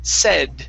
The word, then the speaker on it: said: Now that last word, instead of said, using a long A sound, saying say, okay, the word is said with a short E.